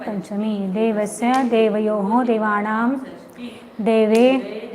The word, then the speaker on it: देवेन: देव देवान दतिया देवेन उच्चारण ध्यान में रखिए देवेन पूरा हैन हलन तो नहीं बोलना उसको देवेन बोलो देवेन देवा देवा